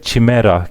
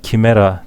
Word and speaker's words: chimera: göstermek istiyorum size Eee chimera kimera diye de okunuyor Yunan mitolojisinde bulunan bir yaratık